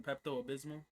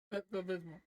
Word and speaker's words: Pepto-Bismol: Some Pepto-Abysmal. What's it called? Pepto-Abysmal. It's Bismol. Pepto-Bismol. No. I have to, there's this thing. I forgot. Am I pronouncing it wrong? No. It's Pepto-Bismol. It's Pepto-Bismol.